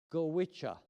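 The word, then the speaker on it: Goitse: goggle, but in fact, thank goodness, is not pronounced the way it looks. It's actually pronounced gicha.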